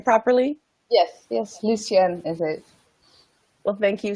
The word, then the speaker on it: Lucienne: and actually have those conversations I'm here welcome Lucen am I pronouncing your name properly yes yes Lucien is it well thank you so much for